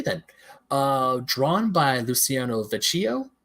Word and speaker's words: Vecchio: at all okay then uh drawn by Luciano Vecchio Vecchio it's spelled v-e-c-c-h-i-o so okay you're the best you